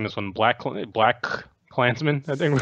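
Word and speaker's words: BlacKkKlansman: kid did actually oddly enough but how we're pronouncing this one black Clinton a black Klansmen I think we're going it's a black Klansmen yes because it's black KKK you know the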